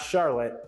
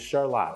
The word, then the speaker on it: Charlotte: And again, it's not Charlotte, it is Charlotte. I am saying it correctly.